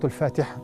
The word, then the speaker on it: Al-Fatiha: And then the common mistakes: some children they mispronounce the names of the surahs, particularly the surahs start with al. Surah Al-Fajr, for example, Surah Al-Fatiha, most common one. They say Surah Fatiha.